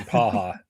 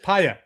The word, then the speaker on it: Paya: I am one of your hosts, Paya, my new name is, or Paha. Paya. With me, they corrected our pronunciation. Paya. Right, it's Paya.